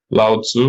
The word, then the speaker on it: Lao Tzu: So that made me immediately think about, things like Pythagoras and Lao Tzu, or how do you call it in English? Lao Tzu. Well, actually, that's how you pronounce it.